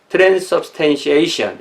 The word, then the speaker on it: transubstantiation: 이 액센트가 A에 있으니까 transubstantiation 이렇게 하면 되겠네요.